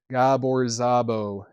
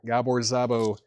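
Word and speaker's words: Gábor Szabó: Looks like I gave Chad some uh pronunciation notes there. Gabbor Zabo. Gabbor Zabo is 15 bucks with Bob James, Jack De Janeette, Billy Cobb, Ron Carter, and Ralph McDonald.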